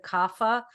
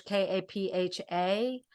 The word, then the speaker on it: Kapha: So having a more kapha nature, people mispronounce it kapha. It's spelled in English Kapha, Right.